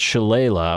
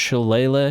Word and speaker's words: Shillelagh: in Druid to get Shillelagh, or is it pronounced Shillelagh? I think it's pronounced Shillelagh, but Shillelagh is the way it's spelled.